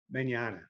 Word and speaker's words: Manyana: these fires in man is it pronounced Manana Manana we' we'd started off by